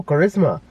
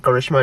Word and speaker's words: Karisma: No, Karisma. Like, that's how you pronounce her name.